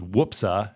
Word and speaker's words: Whoopsa: whoopsy daisy, you know, but it's not quite whoopsie. I suppose you could spell it any number of ways based on the uh folk exclamation, but uh the way it is spelled officially and the name of this farm is Whoopsa, wh osa daisy farm.